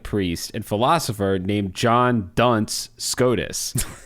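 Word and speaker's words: Duns: and philosopher named John Dunce Scottus. Now, Dunce here is spelled D- Ns, not D- N C like the cap.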